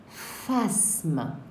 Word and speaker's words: phasme: Il voit des phasmes. Des phasmes. Alors, phasme, les enfants, ça s'écrit avec PH, comme photo.